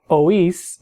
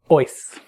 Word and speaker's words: oís: You'll notice in these forms the I has an accent mark to break the diphthong, meaning that it makes that I a syllable by itself, so it's oímos instead of oímos, and oís instead of oís.